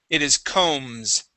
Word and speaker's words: combs: Now the B is silent. Okay, so instead of saying combs, it is combs.